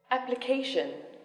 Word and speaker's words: application: geography geography especially especially and now the stress is on the third syllable economic economic economical economical application application independence independence celebration celebration artificial